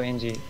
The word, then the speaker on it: Engi: Yeah, definitely go NG controlled.